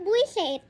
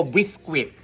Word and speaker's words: biskwit: Sabihin mo, biskwit. Buwisit. Biskwit. Buwisit. Hanggat hindi mo nabibigkas ng maayos yan, ako ang mabibwisit sa'yo. Biskwit. Buwisit. Biskwit nga, biskwit.